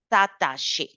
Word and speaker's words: s'attacher: And it's not adapter, it's not attaché. Okay, we always open the mouth. S'adapter, s'attacher. So a is the pronunciation.